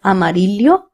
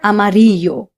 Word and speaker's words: amarillo: I would like to draw your attention to the two L's. They are pronounced as lea or y. So you can pronounce this word as amarillo or amario. Both are correct.